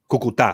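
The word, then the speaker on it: Cúcuta: Is it Cucuta? Cucuta. Okay. Cucuta. I don't see the accent on here.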